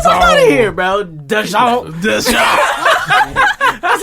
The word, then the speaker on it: DAZN: It's DAZN. The zone.